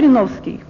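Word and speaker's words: Жириновский: Even though it is Zhirinovsky, with the “i” in the first and second syllables, but here the sound similarity works, like, we don't say “Zherinovsky” with the “e”, we say “Zhirinovsky”, the sound “e” anyways, hence “Rege”.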